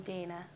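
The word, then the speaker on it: Dayana: name hi marco i'm dana marco how do i spell that it's not really spelled the way it sounds okay it's d a y and a okay i'll see you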